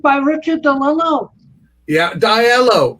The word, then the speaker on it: DiLello: Yeah, Diello. It's pronounced Diello.